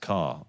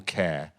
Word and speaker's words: Ker: So all those names are theoretically supposedly pronounced car or care.